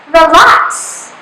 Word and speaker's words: relax: the accented syllable so you have to pronounce louder the last because it is the accented syllable so you have to pronounce it like this relax so next example we